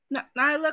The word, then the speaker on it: Nyla: Nyla, because it's being mispronounced.